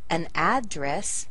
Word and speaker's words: address: On the verb, we're going to shift the stress. We're going to put it on the second syllable. So we say an address as a noun, but as a verb, to a dress.